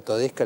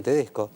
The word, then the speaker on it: Todesca: Bueno, empecé que a Todesca le dije Tedesco.